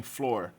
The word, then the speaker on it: floor: E floor também, floor, que é chão.